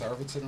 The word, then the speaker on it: Arvidson: Did I pronounce Arvidson right? Yeah.